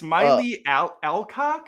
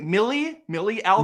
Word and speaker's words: Millie Alcock: It's Miley Alcock. Is that how you say it? Millie Alcock. Millie Alcock.